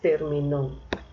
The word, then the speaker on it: terminó: Si le coloco la tilde en la antepenúltima sílaba, suena término, pero si le coloco la tilde en la última, se dice terminó.